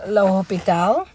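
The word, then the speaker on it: L'Hôpital: The French part is only interesting, right, because you have to try to pronounce his name, and it's Le Hopital.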